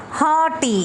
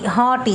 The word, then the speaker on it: haughty: Next is haughty. Haughty, GH is silent here.